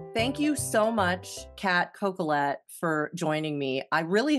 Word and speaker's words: Coquillette: right it was perfect if you were French you might say kette but you know as Americans we just we get those L's in there calette yeah um well thank